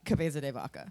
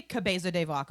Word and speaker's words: Cabeza de Vaca: my first 2 notes say he was new, and then pronunciation help with a question mark, and then I have Karankawa and Cabeza de Vaca.